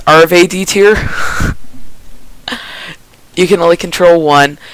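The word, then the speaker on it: Arfeudutyr: So apparently it's pronounced Arve D tier.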